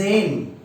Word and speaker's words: aiment: Here you do not pronounce this ENT and you just conjugate this S with this A. Okay, then it becomes il aime, elles aiment.